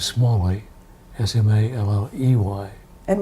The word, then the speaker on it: Smalley: tight more than Marvin my last name is small way yes MA ello ey